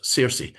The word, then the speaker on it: Circe: In local legend, that's the tower of the enchantress Circe, or Kirke. It's got different pronunciations.